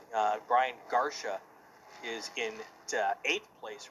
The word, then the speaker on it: Garsha: Thanks, Tom Madsen, for helping us with the pronunciation. Brian Garsha is in 8th place right now in that Dodge Challenger. Sorry about that. Yeah. I called him Garcia.